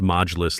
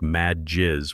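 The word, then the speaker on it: Majlis: She pronounced modulus like mad jizz, which if you know Arabic sounds like she's talking about angry bodily fluids instead of a council meeting.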